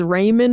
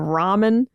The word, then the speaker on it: ramen: He also says Raymond instead of ramen.